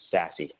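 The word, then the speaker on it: SASE: what Gartner has coined secure access service edge or sassy as it's pronounced and really what that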